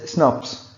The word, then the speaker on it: snRNP: you pronounce it the word snrnps it is pronounced as snobs snrnps snaps and what is the full form of snaps